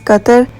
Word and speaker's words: Qatar: पहुंच गए हैं और कतर की real pronunciation in Arabic languages कतर बट non Arabic language speakers और जो वेस्टर्न कंट्रीज में रहते हैं वो इसको प्रोनाउंस करते हैं एज कतार दिस इज द आइकॉनिक